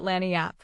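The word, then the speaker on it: lagniappe: A nice limber, expressive, handy word, lanyap. They pronounce it Lanniap. It is Spanish, so they said.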